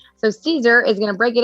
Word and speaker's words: Siser: And this segment is with Siser. So Siser is going to break it up into 3 parts for us. Siser, if you haven't heard of him, is not Siser, even though it's spelled Siser.